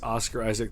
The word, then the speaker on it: Oscar Isaac: has something to say it's oscar isaac there is no s at the end i mean i've been